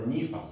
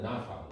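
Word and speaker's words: nif'al: You add for nifal, yeah. And it's a ni-fal, it's not a na-fal, right? It's a ni-fal, so it's pronounced e, ni-fal.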